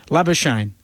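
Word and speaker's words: Labuschagne: we know that uh in his homeland in south africa the name is traditionally pronounced but he prefers it to be lava shane so um that is what we go with but if we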